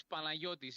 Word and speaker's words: Panayiotis: Actually, my name is Panayiotis. It's a It's a Greek name.